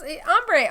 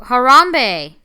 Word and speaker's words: Harambe: the the monkey gorilla oh harambe oh my God yeah I said ombre I was like who's ombre guys I'm sick I